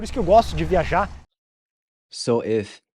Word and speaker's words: viajar: Viajar. Viajar. Viajar means to travel. The J is pronounced like the J sound in the word measure. Viajar.